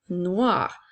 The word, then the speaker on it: noir: rajoute la lettre E au masculin nous avons noi qui fait le son wa et la lettre R a noir comme dans la phrase le ballon est noir et au féminin nous